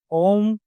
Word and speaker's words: ओम: तो ओम का उच्चारण भी बहुत लोग गलत करते हैं। इसका सही उच्चारण वैसे है? ओम 3 शब्दों से मिलकर बना है। जी। अ, उ और म।